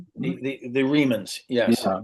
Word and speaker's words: Remans: The Remans, I think, are the the Remans. Yes. Yeah. I didn't want to mispronounce that.